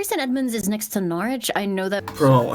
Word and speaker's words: Norwich: Edmunds is next to Norwich. I know that. Bro, hearing like an American accent pronounce town names the way that British people say them, it feels weird, man.